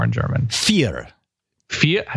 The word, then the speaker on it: vier: Vier. Vier? I spell that.